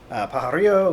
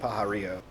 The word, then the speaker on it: Pajarillo: think it will be is uh uh Brian pararo which is how I'm going to say it